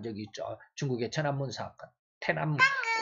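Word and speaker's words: 톈안먼: 태남문, 우리나라로는 천안문 그러는데 중국 발음은 태남문 그러죠.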